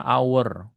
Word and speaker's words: hour: Karena pengucapannya hour. Hour.